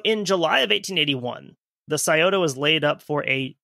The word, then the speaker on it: Scioto: West Virginia River Front also a spelling note scota is spelled s c IO t o it's the